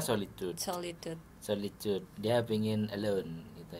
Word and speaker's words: Solid.ud: Bacanya solitude.